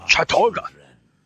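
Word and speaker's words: Chattur'gha: After we have broken your frail body and mind in the name of our true lord, Chaturga. Ah, that's how you pronounce it. Chaturga.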